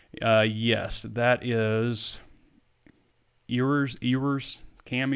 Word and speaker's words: Ewers: due to nil uh yes that is yours ewers cam yours is how you say his name he's going